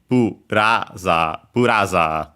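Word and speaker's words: ブラザー: So buraza, low, high, and then everything else low.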